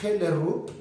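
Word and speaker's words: Hellerup: en un barrio que se llama heller ruth es la pronunciación en danés o en español podríamos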